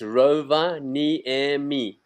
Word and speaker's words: Rovaniemi: of all, is that Finnish is the only language in the world that pronounces every letter of the word. So it's Rovaniemi. It's exactly the word as you read it.